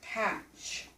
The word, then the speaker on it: patch: off that T because that T is a silent T because we don't say this word packed we say it patch you sure can but